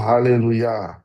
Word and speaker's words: haleluya: Dalam bahasa Ibrani yod dan he di belakang itu baru dibaca ya. Misalnya Elia, Abia, Yermia, termasuk haleluya. Tapi kalau haleluya dibaca panjang, bacanya halelu et Adonai atau haleluya. Tetap kita baca haleluya karena ya nya di belakang. Jadi ini soal linguistik yang